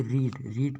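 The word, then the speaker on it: read: रीड की तीनों form में स्पेलिंग तो एक समान होती है लेकिन उच्चारण अलग अलग होता है।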